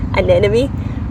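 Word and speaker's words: anemone: Some people had issue with how I say an enemy. If I try and pronounce the M in I'm not even going to. It just sounds like I have a terrible stutter. Um, my accent's not going to allow for that.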